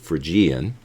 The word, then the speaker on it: Phrygian: the key of F, and we call that Phrygian mode, or some people pronounce it Phrygian.